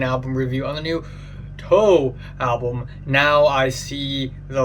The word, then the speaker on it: toe: I've always called them toy because I thought there's no way they they're going to call themselves toe uh like like the pinky toe like fingers but on your feet toe uh so I thought